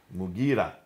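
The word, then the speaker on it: Mughira: Basra, Amir ibn Abdul Quyas, sorry for the pronunciation. Abdul Qais. Qais. In Syria, Al-Mukarid ibn Shuba. Mugira ibn Shuba.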